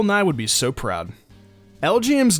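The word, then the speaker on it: Elgyem: would be so proud L GM's name origin is pretty neat the way it's pronounced spells out lgm stands for Little Green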